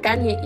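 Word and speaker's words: Kanye: fue horrible y si se pronuncia Kany no kanny me vale gorro para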